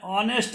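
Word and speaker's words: honest: एन ऑनेस्ट मैन, एच से शुरू है लेकिन वो साइलेंट हो गया है, ऑनेस्ट आता है इसलिए एन ऑनेस्ट है।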